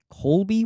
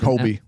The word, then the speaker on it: Kobe: Is his name Colby with Kobe? No L.